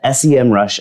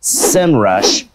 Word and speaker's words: Semrush: minutes i'm one of the professors at the sem rush academy in fact i was the first professor there and yes i know they finally officially said it's pronounced semrush but i'm going old school and sticking with